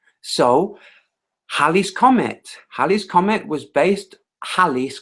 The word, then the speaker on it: Halley's: So Halley's Comet was based, Halley's Comet, that's how it's pronounced, was based on observation, not observation of orbits.